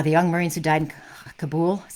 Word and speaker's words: Kabul: okay oh yeah the young marines who died kabul is how you say it did a number